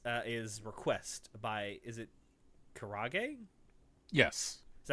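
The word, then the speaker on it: krage: K-Rage. It sounds like an actual... It sounds like a metal radio station. K-Rage. It's Korean Rage, bro.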